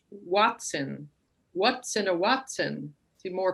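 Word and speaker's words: hoatzin: So this is pronounced Watson.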